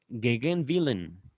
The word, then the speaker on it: Gegenwillen: Estoy tratando de leer, realmente no sé si así se pronuncia, pero estoy como pronunciando el alemán como inglés, ¿vale? Eh, excepto la W que pronuncio aquí como B pequeña.